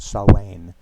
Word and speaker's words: Samhain: right enjoying Halloween, and it is spelled Samhain or Samhain, but pronounced Samhain, an ancient Celtic holiday,